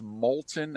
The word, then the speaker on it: Moulton: And I had to pull him aside and go, it's molten as in lava. Did that work? Okay. Yes. I needed to give him something to, just it's pronounced more like Molten.